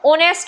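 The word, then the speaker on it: honest: पास में एन आएगा ऑनेस्ट होता है एच क्या रहता है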